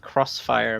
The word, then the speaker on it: Xfire: that c you know xfire the program it's supposed to be pronounced Crossfire because it's a cross really I never knew